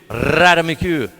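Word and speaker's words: ratamacue: Can you roll your R out there? I'm starting to sound sleazy. Ratamaku. There it is. Ratamaku.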